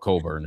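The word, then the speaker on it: Cockburn: They had Musa Cisse, who's currently with the Dallas Mavericks, Kofi Coburn, whose name is not spelled Coburn, it's spelled something else, but he's been playing professionally, and he was in Asia at one point.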